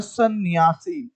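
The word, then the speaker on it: संन्यासी: उसके बाद दोस्तों जब हम सन्यासी का उच्चारण करते हैं, तो जो सा होता है उस पर एक बिंदी लगी होती है, जिस बिंदी का नाम होता है हिंदी में अनुस्वार। और इसका उच्चारण कब होता है, स्वर के बाद नासिक का, यानी कि नाक की सहायता से किया जाता है दोस्तों। तो यहाँ पे हो जाएगा सन्यासी, ये इसका शुद्ध रूप होगा दोस्तों।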